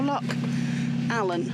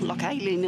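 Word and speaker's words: Loch Aline: We are ready to leave the aisle of Ker and we are departing for lock Allen as they pronounce it or lock alien as it's written.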